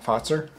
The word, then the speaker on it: Fazer: time i think so foster thanks you guys spelled it out for me it's like f-a-t-z-e-r oh that's how you're supposed to pronounce it yeah so canelo if